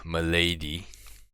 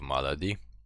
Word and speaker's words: Malady: the black green temple temple of uh milady as people like to pronounce it instead of malady obviously hopefully we get that